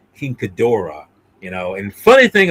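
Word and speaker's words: King Ghidorah: No, in in the English version, it's Gedra, but I'm saying the uh exact uh correct pronunciation, Kingdora, you know.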